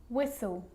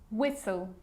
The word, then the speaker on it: whistle: sneaky that one now the letter t can also be a bit sneaky and it can also be silent like in these examples there's quite a few